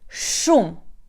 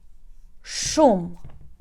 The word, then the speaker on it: шум: For example, we have the word shum, shum, sh, shum, or for example, шахи, шум, шахи.